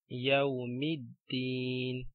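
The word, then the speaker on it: يَوْمِ الدِّينِ: And this one, Yawmiddin. So we join mim with dal and ignore the alif.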